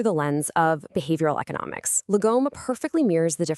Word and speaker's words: Lagom: Lagom, pronounced Lagom, is this beautiful concept that roughly translates to not too little, not too much, just the right amount.